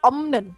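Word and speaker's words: 없는: Jadi kalau ada opnen, ini bacanya bukan opnen tapi omnen, jadi m.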